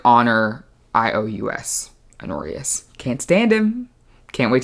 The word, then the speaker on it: Honorius: Think if Joffrey had a little less audacity, I would give that to her brother, Honorius, spelled like honor, I-O-U-S, Honorius.